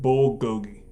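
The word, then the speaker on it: 불고기: It's pronounced Tae-tail-boki and bulgogi.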